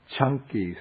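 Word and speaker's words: Caṅkī: This is called the Chunky Sutta. The C in Pali is pronounced like CH, so it's like chunky peanut butter.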